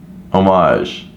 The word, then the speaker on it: homage: o mais yeah so there's no H French okay homage if you guys don't